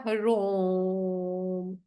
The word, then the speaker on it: हरोम: ठीक है, प्रोनाउंस कैसे होगा? हरो रोम, हरोम। ठीक है, तो ये ओ का उच्चारण थोड़ा लंबा होता है, हरोम, हरोम।